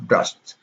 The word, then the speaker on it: brushed: The d here is not pronounced as d, but it's pronounced of t here. So we have brushed.